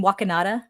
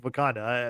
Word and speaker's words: Wakanda: Do you mean Wakanada? Wakanata. Yeah, as Bruce Banner calls it. Wakanada. Yeah. Um Wakanata. Not not a bad not a bad interpretation of Wakanda.